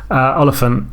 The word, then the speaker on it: Olyphant: going to be Timothy Olyphant was originally called Timothy Elephant. I'd have been like, wow. Yeah, see, every time I try and pronounce his name, I just think, just go elephant with an O.